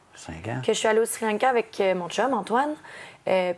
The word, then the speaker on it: Sri Lanka: la prochaine tendance de Sri Lanka qu'on doit prononcer Shrek si on le prononce dans la langue tamoul et toi tu es